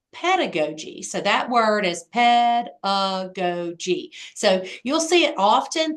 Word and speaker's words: pedagogy: is called play pedagogy so that word is pedagogy so you'll see it often throughout this text